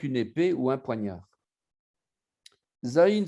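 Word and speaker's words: זין: Zayin se prononce entre les dents.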